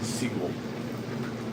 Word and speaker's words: Seagal: Probably get one for 350 if you could find a steel Stephen Seagull. That's hilar. That's That's a good one. Chris D. It's not Steven Seagal. Steven Seagull.